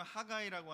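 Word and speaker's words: Haggai: 어느덧 이제 세 번만 하면 12연서가 이제 끝이 나게 됐는데 오늘 드디어 이제 그래서 10번째 학계에 대해서 그 영어로는 하가이라고 하는데 우리나라 발음으로 왜 학계라고 했는지 모르겠지만 하여튼 그렇게 되는 성경책을 오늘 같이 공부하도록 하겠습니다.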